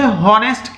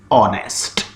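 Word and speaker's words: honest: Dear students ध्यान दें, कुछ बच्चे इसे हॉनेस्ट कह देते हैं, इट इज इनकरेक्ट। एच इसमें साइलेंट है, यानी इसको हम बोलते नहीं हैं, हम बोलते हैं ओ से, ऑनेस्ट।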